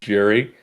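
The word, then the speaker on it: Gerry: It's spelled G E R R Y for Jerry.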